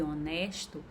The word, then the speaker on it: honesto: caso do nosso pagar quando eu falo hora e honesto eu pronuncio ó porém o h torna-se mudo ele não tem pronúncia fonética dentro da língua portuguesa os fonemas eles podem